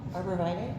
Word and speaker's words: arborvitae: Is it aborti? I never can pronounce it. Aborti? Arborvitae?